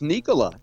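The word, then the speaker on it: Nikola: did you know that uh yeah there it's pronounced Nicola n yeah and did you we talked about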